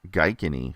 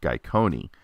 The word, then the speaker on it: Gaikoni: Everyone in the show says his name wrong. It's actually Lord Gaikoni.